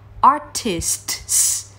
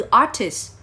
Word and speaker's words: artists: Vậy bạn sẽ đọc nó là " artist-sts," đúng không? Ở đó. Nhưng không, trong trường hợp này, từ "artists" sẽ được đọc như thể âm "ts" bị lược bỏ hoàn toàn.